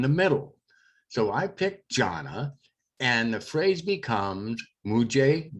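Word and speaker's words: जाना: The one that we're going to use for our example that starts is jana, and jana means to go, and it's pronounced jana.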